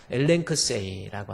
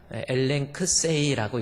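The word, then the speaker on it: ἐλέγξει: 볼 필요가 있는 단어입니다 엘크 세라고 하는 겁니다 조금 이상한 글씨 같지만 엘크 세라고 있습니다 앞에이 발음이 나오고 남다가 L 발음이 발음 그다음에 감마가 g 발음 그다음에 크시 발음 KS 발음입니다 그다음에 e 발음 I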